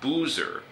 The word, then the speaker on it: boozer: Americans say Z. Okay. Buzzer. B-U-Z-Z-E-R. Right. なるほど。で、酔っ払いってことは? That's boozer.